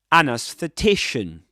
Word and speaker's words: anesthetician: Double stressed word. Main stress on t secondary stress on a. An anesthetician.